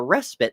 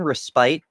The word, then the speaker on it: respite: orgasm can give you a respit from from a busy day. And I'm like, do you mean respite, bestie?